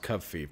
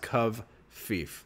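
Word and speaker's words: covfefe: cief it's it by the way it is pronounced CUV fief just so you know the president posted yesterday about his haters and then he posted cief CV F Fe and it's pronounced KV fief that's at least that's how it was pronounced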